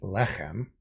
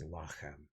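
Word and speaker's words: לחם: And at the end of a verse, you get what's called pause. And when something is in pause, usually the penultimate syllable, the one before the last, lengthens. So lechem becomes lachem. So she heard that the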